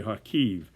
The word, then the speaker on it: Kharkiv: however you pronounce it harkeef some people pronounce it with a silent k and they say hakeev so let's let's do